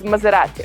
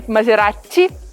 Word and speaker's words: Maserati: italian car is maserati many people say maserati but that's the major mistake it's only one t in the world so maserati and again put your tongue close to your upper teeth to say the sound if we are talking